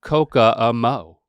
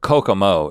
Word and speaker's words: Kokomo: clock way down to coca mo you're adding an extra syllable because they did in the thing but kokomo is is what it is and just when you